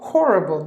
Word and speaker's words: horrible: Here the H is pronounced. So horrible, that's how you have to pronounce.